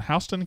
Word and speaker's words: Houston: You know, Mississippi has some words that they pronounce their own way, like Lafayette is Lafayette in Mississippi, and there's others. Yeah, Houston should be Houston. Houston is Houston.